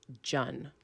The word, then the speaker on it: Cheon: but it's correctly pronounced Chun right actually it's correctly pronounced Jun like joy Ewan Oh but in